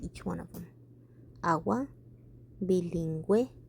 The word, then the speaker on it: bilingüe: Pingüino, bilingüe, cigüeña, vergüenza. And they all have two little dots on top of the U because you are allowed to pronounce the U even though it's next to the G.